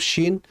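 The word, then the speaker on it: ش: Seringkali teman-teman kita atau saudara-saudara kita ketika membaca huruf shin yushbihu sin, yushbihu as-sin, yaitu menyerupai huruf sin. Ya, dan ini merupakan kesalahan karena shin dan sin dua huruf yang dari segi makhrajnya pun sudah berbeda.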